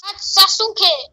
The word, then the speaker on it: Sasuke: No, I have to tell you how to pronounce Sasuke. What? It's Sasuke.